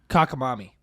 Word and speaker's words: cockamamie: all right so what's the next one go let's hear it uh i might pronounce it wrong kakamami kakamemi kakamimi kakamemi spell it c-o-c-k-a-m-a-m-i-e yeah it's cockamamie cockamamie it's it's it's um